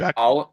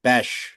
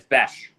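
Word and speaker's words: Bech: His last name's pronounced Besh. It's Besh. Beck, Besh, same shit. Yeah, Jack Besh. Jack Beck. No, not Beck.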